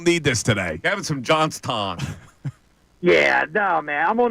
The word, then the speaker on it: Johnstown: I told you they don't pronounce the W from that part of the country. There's no W's. Yeah, it's a Pittsburgh-influenced dialect in Johnstown.